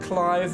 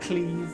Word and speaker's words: Clive: of clive a rosfield clive not pronounced cleave some summon action yeah